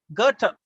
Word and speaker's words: Goethe: அடுத்தது வந்து உங்களுக்கு ஒரு ஜெர்மன் ரைட்டர் கர்ட்டர், இது கொஞ்சம் பார்த்து ப்ரொனவுன்ஸ் பண்ணும். அவரோட ஸ்பெல்லிங் பாத்தீங்கன்னா GOETHE, ஆனா ப்ரொனன்சியேஷன் வந்து வேற. கர்ட்ட, ரைட்டா? அதாவது எப்படி பண்ணுவாங்க, GUHTEH, கர்ட்ட அப்படி ப்ரொனவுன்ஸ் பண்ணுங்க. ஆனா ஸ்பெல்லிங் வந்து GOETHE, கர்ட்ட.